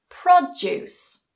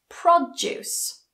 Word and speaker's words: produce: of other pairs like this that go together produce produce produce produce Rebel Rebel Rebel Rebel conflict conflict